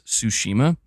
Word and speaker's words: Tsushima: like talking about it I didn't know how to properly pronounce pronounce tsushima I forget exactly how I was saying it was like tush or something but uh eky okay